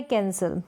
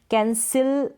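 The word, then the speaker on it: cancel: फिर यहाँ पर है कैंसिल, क्या है, कैंसिल यानी कि रद्द होना या रद्द करना, कैंसिल करना, कैंसिल ना पढ़ के कैंसल पढ़ेंगे, स, अ का साउंड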